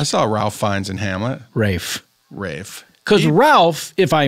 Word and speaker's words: Ralph: Rafe's rewards card.